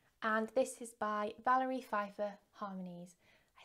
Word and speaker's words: Pfeiffer: So this is a kit, and this is by Valerie, Pfeiffer, Harmonies.